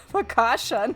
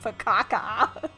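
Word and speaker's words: focaccia: it before but I mean I know it's pronounced fasha now not faka there's this cute little like cooking show I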